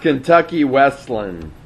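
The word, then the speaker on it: Kentucky Wesleyan: It's Kentucky Westland. Say that again? Kentucky Westland. Kentucky Westland, okay. Yes. The Y is silent, apparently.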